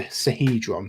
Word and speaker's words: Sihedron: How you spell that, Tom? Cast identify, so I can do it. Sahedron. Sahedron. So Sihedron.